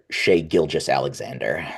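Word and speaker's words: Shai Gilgeous-Alexander: Yeah, again, pardon the pronunciation, but uh Shea Gilgis Alexander.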